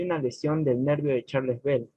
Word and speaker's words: Charles Bell: Así como pronunciación inglesa, Charles Bell.